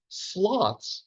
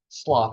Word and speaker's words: sloth: Giant sloths. All right, so we say sloth. I think the British say sloth, and I'm always trying to figure out what the best. So either pronunciation is fine.